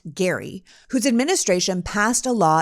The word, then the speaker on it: Gerry: from Massachusetts governor Elbridge Gary spelled Jerry but pronounced Gary whose administration passed a law in 1812 to